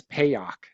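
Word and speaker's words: Peoch: Um, I I I want to say his name is Peock. P E O C H. Pay.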